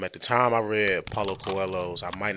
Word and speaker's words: Paulo Coelho: Paulo Coelho. Paulo Paulo Coelho.